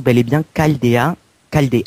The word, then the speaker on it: Chaldeen: précisément tout ça petite histoire donc ça se prononce bel et bien Caldea calde 1 pardon et non chaldine comme certains ont coutume de faire voilà euh